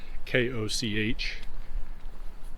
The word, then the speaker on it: Koch: we're coming up on koch is how you pronounce this pronounce this koch and we're going to